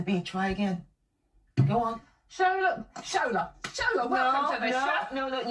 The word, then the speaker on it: Shola: Shola. It. Yeah.